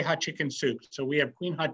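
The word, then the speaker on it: Hatshepsut: work with I said how do you really pronounce hot hotp and he said just say hot chicken soup so we have Queen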